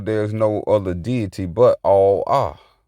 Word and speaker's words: Allah: So there's no other deity but Allah. Allah. There's no other deity but Allah. Now, it's talking about all of us. We say Allah for tones, but it's pronounced all ah.